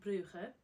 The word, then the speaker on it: Brugge: be in Bruges, and the Dutch/Flemish pronounce it Brugge, and the French pronounce it Bruges. And I would say Bruges is the most common pronunciation that most people would hear.